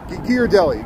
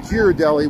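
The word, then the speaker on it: Ghirardelli: thank you gear Deli I was saying gir deli with like a j it's like gear Deli I'm close it's a hard G with the ear so gear Deli I was saying gir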